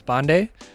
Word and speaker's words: Pandey: at school called me Pandy like we went by our last names a lot so the real pronunciation of my name if I'm really true to my roots is bande um and I'm well